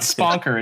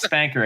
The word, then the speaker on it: Spanker: It's not Sponker, it's Spanker.